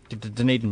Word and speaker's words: Dunedin: And from there it goes to Christchurch and I don't even know how to pronounce it, Dunedin? Dunedin, yeah.